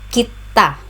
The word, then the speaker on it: kita: Pronunciation, kita. The stress is on the second syllable ta, kita.